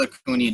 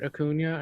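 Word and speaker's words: Acuña: is it Ronald Ronald it's Ronald Acuna jr. I think when I went on the Landy Lodge I called him Robert hakuna or something you probably did but to my credit Andy just butchered his last name so like I did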